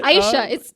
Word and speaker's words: Aysha: Just say Aysha. It's 2 syllables. Aysha.